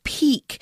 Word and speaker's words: pique: It's the word pique, and it's not spelled how you might imagine.